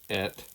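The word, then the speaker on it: את: This is a kind of a literal translation from the Hebrew, and you'll notice the aleph taz in there, which represent, which are pronounced as et in English, and that represents the Messiah.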